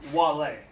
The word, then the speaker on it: vale: It's said a bit differently, though, with a soft V. A soft V? They didn't have W as part of the lexicon, so it's pronounced like a W, Wale.